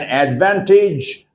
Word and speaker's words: advantage: When you see age at the end of a word, try to pronounce it each. For example, advantage, advantage, not advantage.